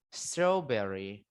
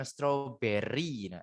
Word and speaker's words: strawberry: Strawberry. Nah, jadi bahasa Inggris itu R-nya enggak dibaca jelas ya, bukan strawberry.